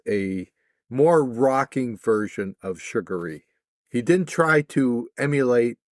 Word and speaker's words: Sugaree: Cuz I was saying it wrong. I thought it was Sugar Ray.